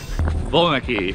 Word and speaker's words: Voellmecke: it's cold first of all how do you pronounce your last name properly boy lucky all right I'm sure I butchered that how